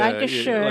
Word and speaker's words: Lancashire: You left rainy Lancashire. Yes. How do I say? Did I say it right? Lancashire, yeah. Lancashire. The ire isn't so much; it's a sh. It's Sure, like, yeah, Lancashire. like Cheshire, yeah.